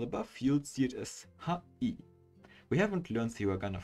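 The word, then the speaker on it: はい: This word sounds like hi or hai. However, remember how e sounds like e. The word hai is actually pronounced ha-i.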